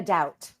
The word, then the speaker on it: Daut: Am I pronouncing your surname correctly? Yes. So, Marina Dout.